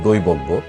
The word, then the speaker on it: দৈবজ্ঞ: যেমন দৈবজ্ঞ, এখানে বয়ের সাথে একটা অ আছে, ও এর পরে যেহেতু জয় আছে, এই জন্য এই অটা ও এর মতো উচ্চারণ হয়েছে।